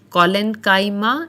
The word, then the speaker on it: collenchyma: There are three types of supporting tissues or simple permanent tissues, and they are pronounced as parenchyma, collenchyma, and sclerenchyma.